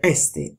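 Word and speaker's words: ἔστι: all'inizio di frase e con l'accento ritratto. Quindi si legge esti, anche se la terza persona singolare del verbo essere, quindi è mi, è esti.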